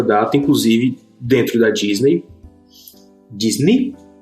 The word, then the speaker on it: Disney: já de longa data inclusive dentro da Disney Disney é a pronúncia certa desculpa ã e ele na verdade